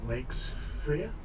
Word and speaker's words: Wakesfrere: I go by the name Will Wakesfrere, rhymes with Shakespeare.